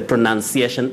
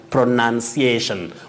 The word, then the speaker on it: pronunciation: recipe don't say recite you say pronunciation pronunciation we have the verb pronouns but don't say pronunciation very common locally but inaccurate pronouns that is the verb but the noun form is pronunciation pitangero you say papyrus